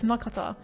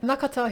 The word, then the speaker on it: Nakata: it also follows nakata why did i say it like that i never read it like that it's nakata that's how i always said it nakata who is an older